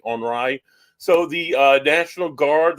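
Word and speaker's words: Henri: Henry because it was the French Canadian pronunciation of Henry onri so the uh National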